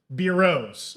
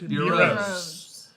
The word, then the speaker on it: Beeros: Beeros. My friend. Beeros. Rhymes with Nero.